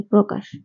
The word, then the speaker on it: প্রকাশ: তো প্রথমে নিয়মটি হবে পদের প্রথমে ব্যঞ্জন বর্ণ এর সাথে র ফালা যুক্ত হলে তার উচ্চারণ অকারান্ত হয় অর্থাৎ তার উচ্চারণ ওকারের মত হয় যেমন প্রতিজ্ঞা এর সঠিক